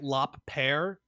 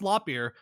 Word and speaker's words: Lopier: It's spelled like Lop Pear, but it is pronounced Lopier.